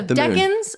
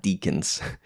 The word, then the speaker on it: decan: And they're pronounced decans and not deacons. Deacons are in the church system.